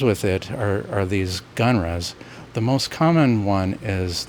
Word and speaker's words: GnRHa: along the way so puberty blockers are gnrhas I'll pronounce them genres for short in this presentation there are class of